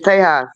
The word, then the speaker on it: Tejas: Texas, that's how you say it in Spanish, Tejas.